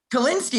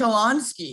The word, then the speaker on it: Kolonsky: thought we were friends how did i pronounce it kalinsky it's supposed to be kolonsky oh i'm sorry i